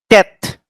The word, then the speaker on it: tet: So it's the sound is T, tet, T-E-T, tet.